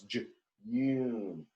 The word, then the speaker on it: June: We have a long U made by the silent E. This E makes the U say its name. So it's not J, no, it's June.